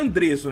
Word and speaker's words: Andreso: O seu nome é Andreso, né? Assim que se fala mesmo.